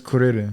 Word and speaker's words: Kuririn: Krillin is Kuririn. Kuririn. Kuririn. It is. It's No, Kuririn. for real. Like, because they can't pronounce L's in Japan.